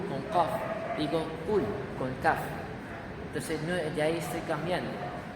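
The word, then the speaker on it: كاف: Una cosa es la Qaf y otra cosa es la Kaf. Qaf, Kaf. Qaf, Kaf. ¿Notan la diferencia en la pronunciación?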